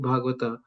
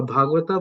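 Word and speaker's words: Bhagavat: A Bhagwata book and person are identical. Am I pronouncing it right? Bhag Bhagwata. Bhagwat. Bhagwat.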